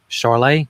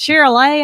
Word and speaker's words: Charolais: She's a mix between, I know I'm going to say it wrong, Charlet, is that right?